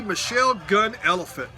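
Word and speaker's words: Thee Michelle Gun Elephant: the get up and whoever's introducing the band said the Michelle gun elephant that's how they pronounced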